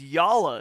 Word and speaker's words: Yala: we heard from downstairs yala is how you say it okay thank God for